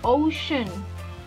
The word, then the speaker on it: ocean: También, desde la beach, vamos a poder ver el ocean. Ocean. Ocean. Teacher, vea, esta tiene una I y una A. Véanla. Y aún así casi no suenan.